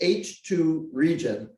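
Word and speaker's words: H II region: h and then two capital i's and it's pronounced h2 region of star formation and i i was asking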